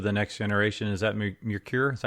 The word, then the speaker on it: Merkur: would fit into the next generation, is that Merkur? Is that how you say it? Yeah, Merkur.